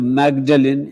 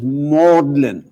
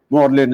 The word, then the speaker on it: Magdalen: not lyster and the third word instead of magdalene is pronounced as mordlin morlin is a college in oxford then we come